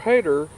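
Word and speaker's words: Hayter: i say mr hater it's not mr hater like he hates somebody or something his name is spelled h-a-y-t-e-r reverend mr hader he suggested that the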